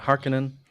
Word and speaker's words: Harkonnen: How do you pronounce it? Harkonnen? Ah, Harkonnen.